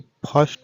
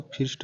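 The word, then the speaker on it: first: अर कह रहे हैं एफ आई आर एस टी फर्स्ट हो रहा है ना कि इसको फिस्ट कहेंगे इस प्रकार है बी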